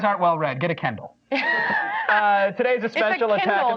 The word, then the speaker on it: Kindle: Get a Kindle. Today's a special attack of the show. It's a Kindle, not a Kendall.